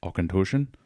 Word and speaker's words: Auchentoshan: What I poured here was the Auchentoshen, or if you need to pronounce it exactly like the Scottish, Auchentoshen, American oak.